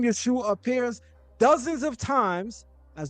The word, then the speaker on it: Yeshua: The Aramaic dialects of the period preserve the same structure, pronouncing it Yeshua with the final guttural ain, often soften or silent in speech.